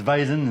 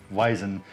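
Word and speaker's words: Weizen: doing the vison vison and it's w which is in German pronounced V instead of w so it's kind of like a in a lot of cases yeah yeah I forget how you pronounce Volkswagen but pronounce it needless say it's yeah it's visin instead of wien but it's a wheat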